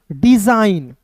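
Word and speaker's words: design: नौ साइन हो गया और यहां पे जी साइलेंट हो गया ठीक है समझ गए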